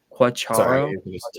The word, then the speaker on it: Quatraro: Oh, I can't pronounce his last name. Matt Quatraro.